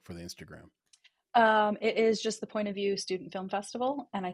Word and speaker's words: Point of VU: I think it's just Point of View SFF. Ooh, I hope I'm correct. Yeah, but you can just search for Point of View Student Festival, and view is spelled VU.